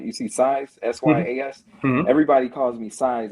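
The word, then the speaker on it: Syas: name right you see size s-y-a-s everybody calls me size it's pronounced like s-i-z-e so that's last size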